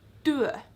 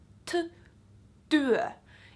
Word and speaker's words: työ: see anything, but so taking an example for like work, työ with a T, työ. If you pronounce it with a D, it would be työ. Like, I don't know, can you hear the difference or not? Työ and työ.